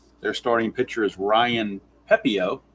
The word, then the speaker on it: Pepiot: Uh for those of you that are not very familiar with Tampa Bay, their starting pitcher is Ryan Pepiot. That's how it's pronounced, Pepiot.